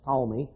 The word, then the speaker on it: Ptolemy: what is modern-day Syria across to Babylon and Ptolemy spelled p-t-o-l-m-e-y looks like patalamy but but it's normally pronounced Tommy he ruled Egypt in the south and this